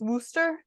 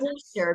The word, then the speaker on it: Worcester: Isn't in Massachusetts, Worcester? Worcester. Yeah, Oh, Worcester I'm sauce. from Massachusetts. So yeah, so it's not Worcester because that's in Ohio. It's Worcester and it's spelled the same way. Worcester.